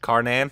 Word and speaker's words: Karnan: Karnan?